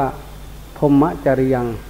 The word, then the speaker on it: พรหมจริยัง: ของ พุทธศาสนา เลย คือ พรหมจริยะ ออก เสียง บาลี ว่า พรหมจริยัง ลูก หลาน จำ ไว้